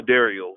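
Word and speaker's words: Dairell: is nigerian flames of dario that's a dario that's a d a i r e l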